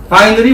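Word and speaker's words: vinyl: 여기 보시면 자, 비닐인데 한국 사람들은 비닐이지만 이 발음은 원래 바이닐이라고 하는 거예요. 이 I가 I 발음이 나요. 그래서 바이닐이 우리가 비닐입니다.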